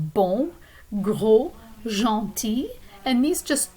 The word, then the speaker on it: bon: And notice that the word bon is a perfect example of a nasal vowel sound. So when you pronounce that sound, you should feel some sound waves or kind of vocal vibrations traveling through your nose.